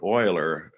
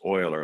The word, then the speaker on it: Euler: matter of fact leonard euler this looks like it'd be euler but in german it's oiler like an o one of the most